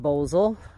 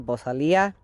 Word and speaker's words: Bosal: Challenge, and that is the Bosal, or pronounced Bosal. And I've also heard the vaqueros always call it the Bosalia.